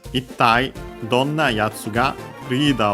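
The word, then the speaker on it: どんな: So yeah, literally, dono, which, yo, here kind, na adjective, dono, yona, and then contracted into donna. The accent is on the do.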